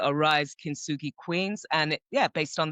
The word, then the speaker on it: Kintsugi: So I know we had talked before about this forgive me if I'm pronouncing it wrong. It's the Kintsugi principle.